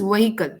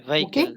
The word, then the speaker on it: vehicle: here a v vehicle first of all the pronunciation is vehicle okay veicle vehicle yes absolutely correct a vehicle which was at